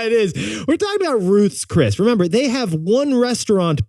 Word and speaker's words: Ruth's Chris: is the experience at Ruth's crisp Steakhouse sorry Ruth's Chris Steakhouse well pronounced their stock jumped